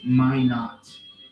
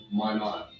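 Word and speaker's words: Minot: It's pronounced my not like the North like in North Dakota. Okay. Sorry. May not.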